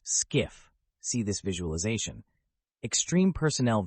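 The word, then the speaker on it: SCIF: Personnel working from a skiff sensitive compartmented information facility pronounced skiff see this visualization extreme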